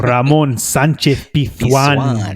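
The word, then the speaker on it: Ramón Sánchez-Pizjuán: no no no no you got to say uh the estadio Ramon Sanchez pan that's how you say it okay Stadium I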